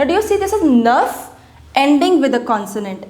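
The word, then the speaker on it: neuf: We pronounce it as nerf.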